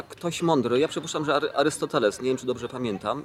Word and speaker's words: Arystoteles: mądry, ja przypuszczam, że Arystoteles, nie wiem, czy dobrze pamiętam i nie wiem, czy dobrze akcentuję, bo to się powinno mówić Arystoteles. Trzecia sylaba od końca chyba powinna być akcentowana, no ale proszę Państwa,